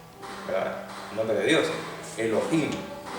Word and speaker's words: Elohim: Elohim se acentúa en la última.